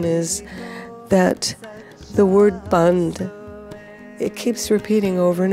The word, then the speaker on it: Bhand: is that the word Bhand, it keeps repeating over and over again. And what is Bhand? You hear there's a slight inflection. It's not just Bhand, but Bhand, where you're making a sound and the sound drops.